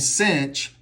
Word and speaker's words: sinh: Or you can say cosh rhymes with posh, and cinch rhymes with pinch.